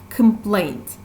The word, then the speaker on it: complaint: such an egg complaint complaint here as you will understand the stress part is the second syllable plate complaint that means